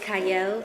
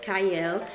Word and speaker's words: Qiayel: y'all welcome to Prime TV I'm your host cyle it starts with a q but it is pronounced CLE and today I have an amazing guest with